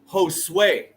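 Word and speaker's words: Josué: to say this word I know how to pronounce his name it's Josue right I know it I know it Josue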